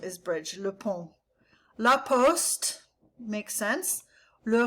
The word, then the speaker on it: le pont: Le pont. On. Nasal, and the T is silent, is bridge. Le pont.